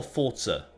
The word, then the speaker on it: Forza: Is it Forza or Forza? It's a bit weird the way you pronounce it. But It's like pizza. Forza. pizza, Forza. It's just like that.